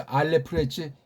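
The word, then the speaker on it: אלף: 뭐 이거 절대는 아니지만 서양 애들식을 해서 알래프했지 이걸 만약에 우리식 삼성 표기라면 알 랩 피읍침에요. 알렙 이렇게 표기하고 이렇게 발음하면 돼. 알렙.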